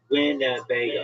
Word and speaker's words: Winnebago: It's Winnebago. It's four syllables.